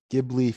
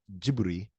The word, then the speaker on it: Ghibli: this is a studio ghibli film i believe the japanese pronunciation is gibri it's called kiki's delivery